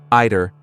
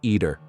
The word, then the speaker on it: either: It's also good to know that there are two variants of pronunciation. Ider and eater. Both are correct.